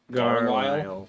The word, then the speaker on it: Garlisle: Garlisle. Yes. Can you spell that, Wait, please? hold on. Hold on. Like Garfield, but Carlisle.